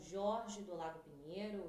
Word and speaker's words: George: falar com o Jorge do Lago Pinheiro. O Jorge se escreve George, ele é médico do sono.